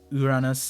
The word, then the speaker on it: Uranus: Uranus is the correct pronunciation.